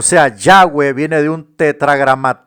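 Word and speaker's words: Yahvé: el antiguo testamento hebreo se escribe simplemente con cuatro letras que pronunciadas dicen ya ve hoy en europa y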